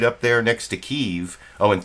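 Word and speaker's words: Kyiv: up there next to keeve oh and thank you tom trask for giving me the uh super chat contribution for correctly pronouncing keeve as one word i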